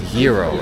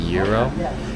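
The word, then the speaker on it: gyro: I keep saying girro. It's yurro, right? Pronounce it yuro.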